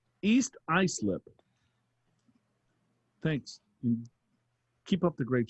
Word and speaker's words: Islip: but it's not islip when when judy said it's i slip and phil said it's ice lip so we have a difference